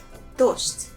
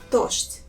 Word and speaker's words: дождь: And the first word is дождь. That means rain. Дождь. Notice how I pronounce some sounds. For example, this sound Z. In this word, I pronounce as sh. And D, I pronounce it as t.